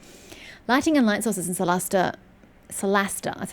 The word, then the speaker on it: Solasta: Lighting and light sources in Solasta, that's how they pronounce it, Solasta.